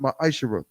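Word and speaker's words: מעשר: verses 8 through 10 means 10th in hebrews pronounced my ishira 10 of every penny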